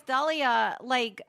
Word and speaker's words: D'Elia: Chris D'Elia like the Black Dahlia.